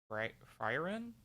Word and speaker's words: Frieren: another manga that is going to be turned into an anime is I think it's pronounced Frieren. Frieren.